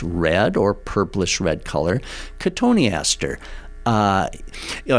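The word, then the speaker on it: Cotoneaster: or purplish red color katoniaster uh you know it's interesting someday you know when we talk about these names katoni Aster looks like it should be cotton Easter you know the spelling yeah sometimes I'll get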